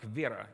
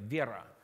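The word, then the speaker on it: вера: faith how about faith it sounds like vera in the Russian can we say together Vieira you're doing you're almost there you doing good but you have to pronounce those cars you know go like Vieira let's do it again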